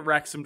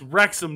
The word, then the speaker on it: Wrexham: Chris riding the Wrexham train.